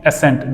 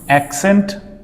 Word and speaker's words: accent: be pronounced as except This won't be ascent. This is accent accessories and vaccination.